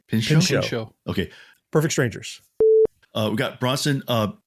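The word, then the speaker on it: Pinchot: Uh how do you pronounce his name? Pincho.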